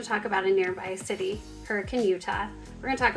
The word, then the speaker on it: Hurricane: So let's start out with talking about the name Hurricane. If you've looked up on the map, it is spelled hurricane. And so if you don't want to stick out, you want to blend in with the locals when you come for a visit, start practicing now, hurricane.